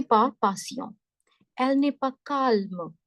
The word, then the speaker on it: calme: Elle n'est pas calme. In English, you say S nahi pronounced. L is not pronounced. But in French people say, we don't have this rule. You need to pronounce L, right?